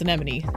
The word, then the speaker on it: anemone: And please note that it is pronounced anemone. I I know how to pronounce anemone.